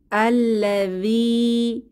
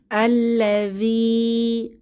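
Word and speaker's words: الذي: এখানে আমরা দেখতে পাচ্ছি আল্লাযী, শেষে ইয়ামাদ আছে, একালিফ টেনে পড়ব। আল্লাযী, আল্লাযী অর্থ যে বা যিনি।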